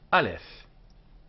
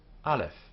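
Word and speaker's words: אלף: first letter this one Alf pronounced as a clear a sound Alf in Spanish and Portuguese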